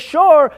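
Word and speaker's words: שור: And when you put the shin, vav, and reish together in that fashion, spelled out as shin, as vav, and as reish, and pronounced as shor, then you get an ox.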